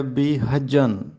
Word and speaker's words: بی حجن: کا درست تلفظ ہے بی حجن۔ یہ حجن نہیں ہے بلکہ حجن ہے، زبر کے ساتھ بی حجن۔ دوسری معروضی ہے کنجڑا